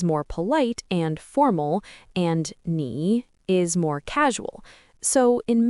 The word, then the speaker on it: 你: Now, if you add xin under ni, you get nin. Pay attention to the pronunciation.